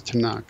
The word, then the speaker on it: Tanakh: And so Tanakh ends up just being pronounced as Tanakh.